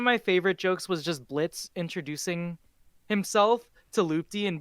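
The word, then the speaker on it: Blitzø: favorite jokes was just Blitz introducing himself to loopy and being like silent yeah yeah yeah my name is blit I'm Blitz the O is silent and then Loop's like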